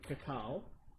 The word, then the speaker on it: cacao: Here's their sweet ones: white chocolate strawberry, black currant cacao. I can never say that word, so I could be wrong on saying it. No, you're right. That's how I pronounce it. Cacao.